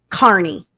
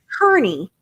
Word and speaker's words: Carney: I am not from Massachusetts, but I dadgum sure know it is Aiden Carney, right? Not Kearney.